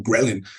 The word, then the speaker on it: ghrelin: Creo que se pronuncia en español grelina, en inglés le decimos así nomás como ghrelin.